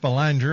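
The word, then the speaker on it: Belanger: Jeff's on here it's he's Jeff balanger up here in canedy it's Jeff balang uhhuh I don't depends where you are that's right and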